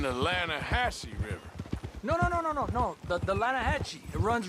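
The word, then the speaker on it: Lannahechee: The Lanahatchee. It runs right near here. Yeah, but it's pronounced Lanahatchee. Why is everything in English said differently than it's written?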